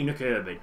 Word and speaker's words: Nykøbing: Some of these teams I will know how to pronounce. The good thing is I've got nurbin totally wrapped up. That's how you say nurbin.